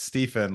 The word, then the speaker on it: Stephen: pronounce it right because it's actually uh it's Stephen like phonetically pH but uh no no one else